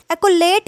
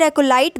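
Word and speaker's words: acolyte: एकोलेट या फिर एकोलाइट, दोनों प्रोनाउंसिएशन करेक्ट है।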